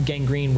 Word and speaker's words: Gang Green: Um and which is spelled G R E N. And Fox kept getting it wrong because it didn't understand it was a pun was not gangrine the disease didn't matter, right?